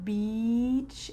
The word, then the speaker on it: beach: Make sure that when you say the word beach, it's the place that you go on vacation. Your lips are wide.